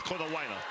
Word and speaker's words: Konawaina: Konawaina. Yeah. You can add all those, vowels in if you want to pronounce every one of them. That's what I was doing. But you can get away with Konawaina.